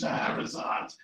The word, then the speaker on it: Shahrazad: Star Sarazad, which of course is pronounced Shahrazad, the woman who Sarazad was kidnapped in an attack by armed men in Nigeria.